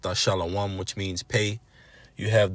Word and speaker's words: Thashalawam: When you break the characters down in Thashalawam, pronounced Thashalawam, which means pay, you have the Tha, the Hebrew character Shah, followed by La, followed by Wa, followed by Ma.